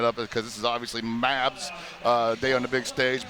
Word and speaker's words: MAB: MAB. That's how you pronounce it.